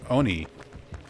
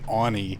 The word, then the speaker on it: Oni: when they were like no you should properly pronounce Oni the O is like on and I'm like I've